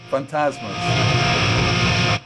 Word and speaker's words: Fantazmaz: And if anyone's wondering how this is pronounced, it's Fantasm. Fantasmas. Fantas fantasma being the Portugu Portuguese word for ghost and fantasmus being the pl.